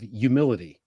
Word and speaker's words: humility: It ties back to the idea of humility, Yes. which you mentioned at the beginning, and which, because I'm from New Jersey and so are you, we say humility without pronouncing the H.